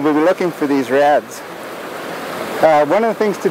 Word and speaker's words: redd: These nests are called reds. That's spelled R-E-D-D, which I believe is from the Gaelic meaning clean.